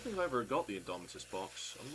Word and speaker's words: Indomitus: Is there Is it Is it the Judica and then the other one from the Indominus box set? I'm definitely not pronouncing that correctly. Indomitus.